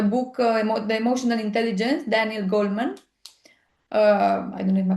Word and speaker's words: Goleman: My point of reference for today was the book The Emotional Intelligence, Daniel Goleman. I don't know if my pronunciation is Okay. correct. Goleman, Right.